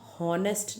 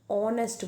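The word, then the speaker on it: honest: Now your if you notice student सबसे पहले letter है एच लेकिन हम हॉनेस्ट नहीं बोलते हम ऑनेस्ट बोलते हैं that means we are pronouncing O over here है ना।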